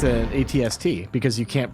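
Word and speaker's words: AT-ST: It's an ATST because you can't pronounce An the AT-SIT. At An That's how an acronyms- AT-SIT. If you can pronounce the word in an acronym, you pronounce it.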